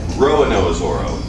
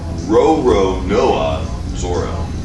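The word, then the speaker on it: Roronoa Zoro: say it properly that lots of people say Roanoke Zorro but that's not correct row row Noah Zorro and that's what Mike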